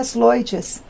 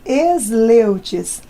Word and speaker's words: Sleutjes: com a gente agora, vai falar como se pronuncia esse nome. Seria Sloites, mas ninguém fala, abrasileiramos. Ficou Esleutes.